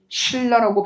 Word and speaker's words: 신라: 니은과 리을 만났을 때 확인되는데 자, 우리 이거 당연히 어떻게 발음합니까? 신라라고 발음을 하죠? 설마 이걸 삼국 뭐예요? 고구려 백제 신라 그죠? 설마 고구려 백제 신라 고구려 백제가 왜 뭐가 신나는데요 지금 말도 안 고구려 백제 신라 그래서 니은과 리을이 만났을 때 보세요 유음이 아니었던 니은이 뭐로요? 리을로 발음되고 있어요.